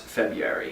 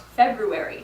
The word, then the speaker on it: February: This word, the second month of the year, is often pronounced February. But if you read carefully, you'll see that there's actually another R in there, so it should be pronounced February.